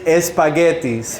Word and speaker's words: espaguetis: So this one is espaguetis, right? Espaguetis. It would be the way someone from the Spanish Caribbean would say spaghettis, right?